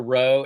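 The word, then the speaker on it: rho: That's a row. It looks like a P, but it's a row. So, every time you see that, you're going to say R. But this is the word cardia.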